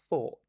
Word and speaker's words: thought: Focus on the vowel sounds, right? So we have though and thought. Very different sounds, even though the spelling is the same.